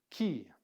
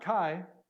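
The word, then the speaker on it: Chi: can see it but key key not Kai this is key and this is actually a fairly similar to our in English CH but it's not a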